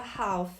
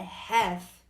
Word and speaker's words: half: Não se fala half. Já ouvi um monte de gente falando desse jeito. É half.